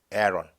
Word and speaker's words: Aaron: 아론, 영어 발음은 Aaron.